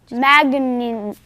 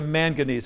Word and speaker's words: manganese: Manganese. Past Ezra, I can't pronounce that.